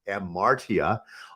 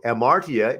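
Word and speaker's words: ἁμαρτία: translated as sin is amartya often it has an h in front of it hamartia but the h is silent uh in english so amartya means to miss the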